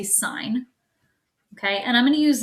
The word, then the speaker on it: sine: the hypotenuse so the sine of the angle which we abbreviate it looks like sin but you don't say sin you say sign okay and i'm gonna